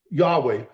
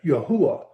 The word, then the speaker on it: Yehowah: a Hebrew linguistic um that has a vowel sound when it's in the middle of the word. And so, it really is pronounced as Yehowah.